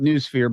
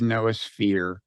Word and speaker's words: noosphere: So it comes from the Greek nous, N-O-O-S, although in Greek, apparently it's pronounced nous. And some people pronounce it noosphere, but I think the official online automated pronunciation is noosphere.